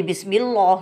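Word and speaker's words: بسم الله: Langsung ditekan menuju lam bacanya. Kenapa kok ditekan? Karena di sini ada tasydid. Jadi masukkan ke sini. Bismillah.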